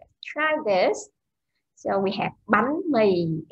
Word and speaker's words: bánh mì: So, ba, b here is the beginning consonant, and the a and h is van, and the tone is yếu sắc.